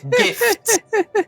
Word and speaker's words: GIF: our vessel this object no gift gift as in a present don't you no don't you dare that is pronounced GIF and I will not hear anything else soon soon after a